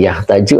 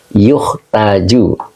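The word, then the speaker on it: يُحْتَاجُ: Rusdi yahtaju atau yuhtaju Pak ustaz yukhtaju Heeh Pak rusti ya bacanya yuhtaju mustahik apa tadi dimajhulkan ya Pak ustaz betul Jadi dibacanya dimajhul ya Jadi dimajhul ya bacanya di maajhul yuktaju he jadi seseorang disebut Dermawan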